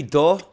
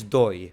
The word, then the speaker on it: doy: So I give in Spanish should be do, but but it's doi because Right.